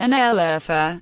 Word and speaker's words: Şanlıurfa: Şanlıurfa, pronounced Şanlıurfa, often simply known as Urfa in daily language.